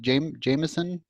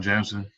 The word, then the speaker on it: Jamson: Um, and then Jamson, is that how you say it? Jameson? Oh yeah, you got it the first time, Jamson.